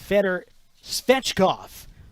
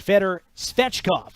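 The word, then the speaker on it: Fedor Svechkov: go Nashville has selected Fetter fetchkoff who's a center who played in the ahl's version of the KHL right for toliati I cannot pronounce that in Russian that's the Italian pronunciation but feder svechkoff a centerman who's uh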